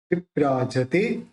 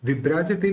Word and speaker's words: विभ्राजते: विप्राजते, विप्राजते, विभ्राजते नहीं विप्राजते, क्योंकि भ के साथ र मिला हुआ है, संयुक्त अक्षर है, तो आधा ब वी के साथ बोलेंगे।